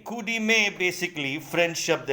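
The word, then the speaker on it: coup de main: 11वां शब्द जो आपके सामने अब आ रहा है वो है कूडीमे। कूडीमे बेसिकली फ्रेंच शब्द है, इसको प्रोनाउंस कूडीमे करते हैं। कूडीमे फ्रेंच शब्द है और इसका मतलब होता है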